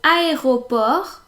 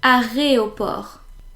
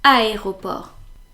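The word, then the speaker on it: aéroport: widespread as it is a lot of people instead of saying aop they say arop but no it's meant to be aeroport and this means airport and it's simply because well that is the order of the letters you know like a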